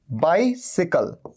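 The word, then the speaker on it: bicycle: सी के बाद वाई बाइसिकल इसे कहते हैं बाइसिकल बाइसिकल का मतलब होता है साइकिल हमेशा ध्यान रखिए बाइसिकल ऐसे ही बोला जाता है साइकिल को और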